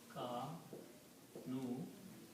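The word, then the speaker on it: كانوا: So if you put a wow at the end and an alif, which is not read, kanu means they were.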